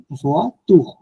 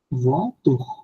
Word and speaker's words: voiture: Then O I, then O আই এর sound হচ্ছে ওয়া, ওয়া। দেন মানে না, হলো মো, মোয়া, তারপরে মোয়া, তারপরে পোয়া, ওয়া, এটা এটা voiture, voiture, প টু, ওয়া, হ্যাঁ ওয়া, এটা ভুয়া, এর উচ্চারণ কি হবে? ভুয়া টু, voiture, ভুয়া, ভুয়া টু, ম, ভুয়া, ভুয়া টু।